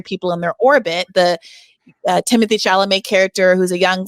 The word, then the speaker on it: Timothée: I call him Timothée. Okay, he's French. Timothée. Can we just pronounce his name in the French way? Timothée Chalamet.